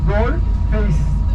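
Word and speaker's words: Galle Face: E okunurken şöyle yazılırken daha doğrusu Galle fa diye yazılıyor. Gol face diye okunuyor.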